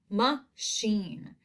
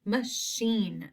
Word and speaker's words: machine: So we have the word machine, machine. That is two syllables, but this I does not have a long I sound. It has like a short sound, machine.